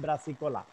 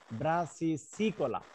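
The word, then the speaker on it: brassicicola: আর একটা হবে অল্টারনারিয়া ব্রাসিকোলা, কিন্তু তোমাদের ছাত্ররা বেশিরভাগই বলবে ব্রাসিকোলা, ব্রাসিসিকোলা, ব্রাসিসিকোলা, অল্টারনারিয়া ব্রাসিসিকোলা। তাহলে এখন দুইটা কনিডিয়ার মধ্যে কে পার্থক্য বলতে পারবা?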